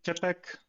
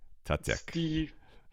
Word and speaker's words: Tětek: It's Tětek with a soft T at the beginning. Tětek. T-E with a hook, Yeah. like the Czech special symbol, so it's Tětek.